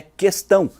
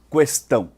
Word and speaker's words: questão: e uma questão ambiental a palavra questão mesmo antes do Recente acordo ortográfico nunca teve trema sempre a pronunciamos em articular a vogal u portanto sua pronúncia correta é questão e não questão é que o presidente